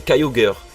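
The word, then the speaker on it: Kyogre: Non eux Groudon Kogre. OK plutôt logique mais dites-vous bien que la prononciation aux États-Unis est très différente. Et oui prononcer Growudon et Kyoger et c'est même pire dans l'animé.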